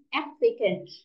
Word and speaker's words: applicant: Các từ khác này, Link động từ up là apply, động từ nộp đơn là apply, nhưng mà danh từ sẽ là e nhá, applicant, âm e nhá, applicant.